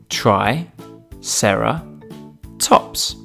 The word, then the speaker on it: Triceratops: who do we have with us today Triceratops try Sara tops can you say it with me try Sara tops let's learn all about Triceratops Triceratops was found